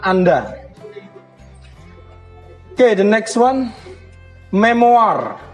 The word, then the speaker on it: memoar: oke the next one memoar bacanya memori ya bukan memoir karena berasal dari bahasa Perancis memo Hai jadi oh